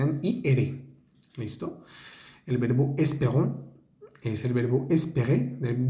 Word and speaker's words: espérons: Es la E, ahí suena como una E en español, porque está la S que nos ayuda a pronunciar la E. Es P, la E, ahí tiene un acento, suena también como una E. Esperons, la ON es una vocal nasal.